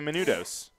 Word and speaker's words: Menounos: They're this year's Maria Menounos. Right? Okay. You didn't say it right, but yes. I mean, Maria Menounos. yeah. Menudos, yes, you Menounos.